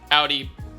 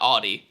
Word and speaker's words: Audi: from Germany are Volkswagen Mercedes BMW Porsche and Audi when you pronounce Audi by the way think of like an Audi belly button that's how you say it not Audi Audi the formula in the term Formula 1 just